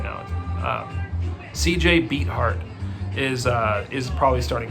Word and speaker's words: Beathard: pretty sure i'm saying it right now cj beat hart is uh is probably starting quarterback for these